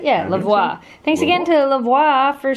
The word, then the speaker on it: Levoit: Yeah, Levoit.